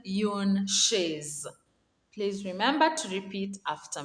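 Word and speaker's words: une chaise: one is a chair a chair is called yoon shays please remember to repeat after me yoon shays the second one is a table a table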